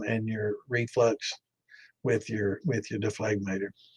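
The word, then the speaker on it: dephlegmator: But I've heard a lot of people pronounce it without the G.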